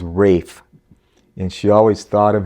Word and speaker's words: Ralph: always viewed Ralph as Rafe. So, you learn something new every day. I didn't know this, but in in England, that's how you pronounce Ralph. That's the British way of pronouncing Ralph is Rafe.